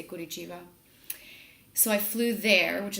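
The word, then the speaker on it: Curitiba: so I flew to good Achieva it's spelled could eat Eva I don't know some people say chiva whatever most Brazilians I think say quid each Eva so I flew there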